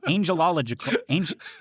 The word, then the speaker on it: angelical: did say that right you said it right the first time and then you were like no that can't be right it just sounds wrong okay angelical yes angelical that is it that's how you say it it's got La in the middle I know um yeah